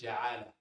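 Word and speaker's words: جعالة: This is called, my brothers and sisters, ja'ala. You can pronounce it as ju'al.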